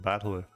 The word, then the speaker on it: Battler: It's made up the characters for fight and person and it's pronounced battler.